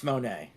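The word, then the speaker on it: Moné: we can do it for I know it's Monae oh God okay so article reads as this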